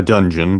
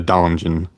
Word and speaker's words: donjon: Not a dungeon, but a donjon. Got to pronounce it with an accent cuz that's how I learned the word.